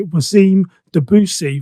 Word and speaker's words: Wassim Dabboussi: became podcast and i want to introduce today wasim debussy from sydney australia and hopefully um i've got your name correct i'm terrible with pronunciations you got my name really really well